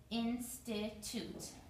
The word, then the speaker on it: institute: sounds, Perkins, two syllables, institute. Institute, institute. Three syllables, three sounds. And this E on the end is silent. We don't pronounce this E. This is a silent E.